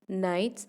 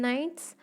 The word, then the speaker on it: knights: So here in the poem, these two words, knights and gnomes, K is silent in knights and G is silent in the word gnomes.